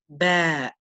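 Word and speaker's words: ب: It makes the sound of b, and it's usually represented with the letter B in English. So when we say this letter, we're touching our lips together and separating them.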